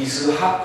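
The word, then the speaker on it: יצחק: 웃은 거예요 그래서이 이삭 히브리어 이삭 그러니까이 발음이 이학 그러거든요 이학 그게 무슨 뜻이냐면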